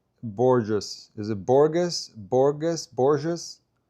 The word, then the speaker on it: Borges: Is it Borgus or Borgus? It's Borges.